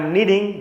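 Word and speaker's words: knead: इसका प्रोनंसिएशन होता है नीड। इसमें के साइलेंट होता है।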